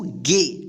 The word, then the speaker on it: gay: ठीक है, यानी जब किसी वर्ड में ए के बाद वाई या आई रहे तब उस ए का ए उच्चारण होगा।